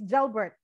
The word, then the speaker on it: Gelbert: you very much and gel birth so that pronunciation is gel birth children can you tell us briefly about uh